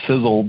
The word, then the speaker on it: Sisel: right in our name the sizzle that uh that you hear is spelled maybe a little bit differently than you may know if you're new to the company or been a if you're a guest tonight but sizzle is spelled s-i-s-e-l it's an acronym and